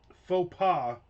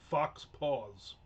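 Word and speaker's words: faux pas: And uh faux pa is not pronounced fox fox paws.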